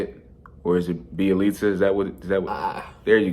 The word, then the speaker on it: Bjelica: Nemanja Bjelica, is that how you say it? Or is it Bjelica? Is that what? There you go. You got it. Yeah, I'm not sure the pronunciation.